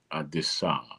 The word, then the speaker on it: Adisa: It's uh Adis, Adisa. He who makes his words plain, right? A D I SA. Adisa. Adisa. Americans pronounce it Adisa. It's not Adisa. It's Adisa.